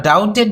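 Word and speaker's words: doubt: সন্দেহ করা বা অবিশ্বাস করা বা দ্বিধা করা ডাউটেড ডাউটেড ডাউটিং বা ডাউট এখানে দেখো বিবির উচ্চারণটা এখানে হচ্ছে না ডাউটেড ডাউটেড এরকম হবে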